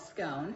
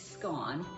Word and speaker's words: scone: some people call it scone the correct way to say it is scone which rhymes with gone so there's your tea